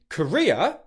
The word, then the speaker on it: Korea: Okay, that's the first syllable, nice and easy. Where it gets more challenging is with the second part of both of these words. For the country Korea, the second part is ria.